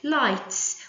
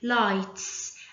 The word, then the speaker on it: lights: the word for example lights we did not pronounce the g lights and also we have